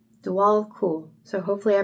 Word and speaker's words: Djwal Khul: So, he says it's pronounced Dwal. Dual cool.